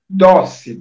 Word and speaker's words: Dossey: Eu vou dizer como é que se lê, como é que se escreve. Larry, Larry, Dossi, Dossey.